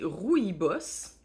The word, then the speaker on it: rooibos: de plantes 15 sachets rooibos prononcé rouille boss bon signifie buisson rougeâtre